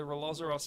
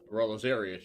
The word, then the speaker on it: Rolozarius: We had an investigation at the Rolozaros Manor to... Rolozarius, you mean? yeah, sorry, I mispronounced it.